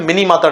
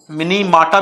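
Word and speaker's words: Minamata: जगह माता लिखते हैं, क्योंकि ये जापानी वर्ड है, जापानी शहर का नाम है, तो जापानी प्रोनाउंस इट मिनी माटा, मिनी माटा, and British pronounce it मिनी माता।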